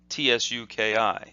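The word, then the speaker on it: 突き: it's pronounced ski ski almost like TSU ki it's like ski as in s ki skiing like seeing down a mountain but with a little too sound at the beginning so it's ski and that means to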